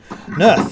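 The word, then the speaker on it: Naerth: company amongst us today welcome my name is nerth and i am the speaker of targos oh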